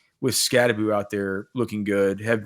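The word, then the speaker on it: Skattebo: It's Scataboo. I mean, it's spelled Scataboo, but the Norwegian pronunciation Scataboo.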